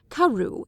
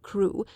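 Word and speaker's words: Crewe: difference in the name madame pascal pronounced it as if it were karu instead of crew but that might merely be a matter of pronunciation the circumstances were curiously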